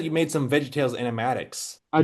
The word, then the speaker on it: animatic: So, how long does it take to make Am I pronouncing it right? An animatic with like Yeah, you got it.